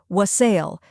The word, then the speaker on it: wassail: First, we have wa, which sounds like wa in wander. Next is sul, which rhymes with hustle, or sail, which rhymes with pale. Both pronunciations are widely accepted.